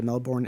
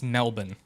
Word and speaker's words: Melbourne: before they finished and they drove back to Melbourne in the rain and that's it. Yeah. Also, it's it's Melbourne.